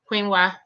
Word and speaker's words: quinoa: Like it's pronounced like a Kweenwa, quinoa.